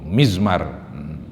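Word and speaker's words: مزمار: Bikasril mim, bacanya mi itu mizmar.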